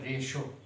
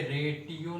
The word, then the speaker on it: ratio: है इसकी, RATIO रेशो, इसका प्रोनाउंसिएशन क्या है, रेशो। हाँ, ये जबकि रेडियो की स्पेलिंग क्या होती है, RADIO, ये रेडियो है। ठीक है, तो ये रेडियो है तो ये रेटियो नहीं है, ये रेशो है, ये रेडियो है।